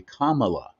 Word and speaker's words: Kamala: black um that uh that if you didn't pronounce it exactly right which is supposed to be Kamala well her and Joe and her own husband